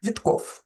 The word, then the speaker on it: Витков: И Вытков или Витков, русско-еврейская фамилия на самом деле, на второй слог ударение, если читать изначально правильно, Витков.